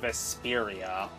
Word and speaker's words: Vesperia: game since episode one Tales of Vesperia not Vesperia well that's that's just